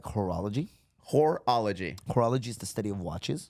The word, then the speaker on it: horology: Horology is the study of watches and chronometers. I think it's pronounced hourology. No. No, Horology.